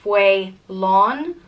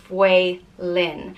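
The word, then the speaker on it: Faolán: whale which means wolf there are two ways to pronounce this name either fweh lon or Wei Lin and it all depends on whether or not there's a FATA over the second day so there is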